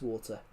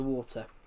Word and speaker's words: water: So yeah, the T is meant to be pronounced in water.